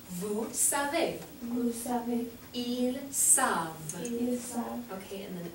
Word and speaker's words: savent: Vous savez, S-A-V-E-Z, and for il and elle plural, oh no, the wrong, it's savent, I'm sorry, just be this way, savent, il, elle, savent, S-A-V-E-N-T.